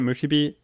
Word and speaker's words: Musubi: Musubi?